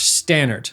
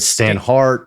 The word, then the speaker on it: Staneart: Today's talent with us is Josh Stannard. Did I pronounce that correctly?